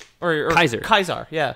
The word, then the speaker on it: Caesar: pronounce it but like most modern linguists agree that that's probably how it was pronounced back in ancient rome oh was kaisar interesting